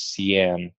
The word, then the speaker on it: Cian: Okay, I said it right the first time. So it's Cian.